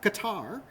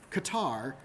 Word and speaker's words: Qatar: Q doesn't appear too often, unless we're talking about articles about Qatar, which, as I mentioned on Discord last night, we somehow are able to read Qatar, right?